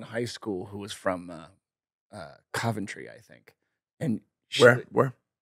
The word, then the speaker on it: Coventry: I dated a girl in high school who was from Coventry, I think. And she, Where? Coventry, England. I don't think you're saying that correctly. Coventry. You have to say it like, I think that's how you have to say it.